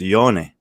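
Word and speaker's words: Jonne: yeah it's like like everyone says jonakowski's name wrong it's not jonah it's yone i got my name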